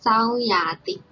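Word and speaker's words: ဆောင်းရာသီ: So here is alphabet sa and ang symbol, so we pronounce sa. And second one is alphabet ya and a symbol, so we pronounce ya. And the last one is alphabet ta and e symbol, so we pronounce ti. Altogether, sauyati. Sauyati.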